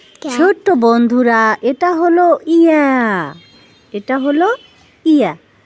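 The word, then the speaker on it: ي: ছোট্ট বন্ধুরা, এটা হলো ইয়া। এটা হলো ইয়া। ইয়াটাকে আমরা জিহ্বার মধ্যখান তার বরাবর উপরে তালুর সঙ্গে লাগিয়ে উচ্চারণ করব।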